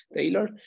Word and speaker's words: Taylor: Es el teorema de Taylor, se escribe así, Taylor, pero se pronuncia Tay como con una E, Taylor.